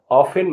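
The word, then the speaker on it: often: listen माने सुनना ओ एफ टी ई एन ऑफेन माने प्राया एस ओ एफ टी ई एन सफन माने कोमल करना यू साइलेंट वाले आपको अक्षर बताने वाला हूं जिसमें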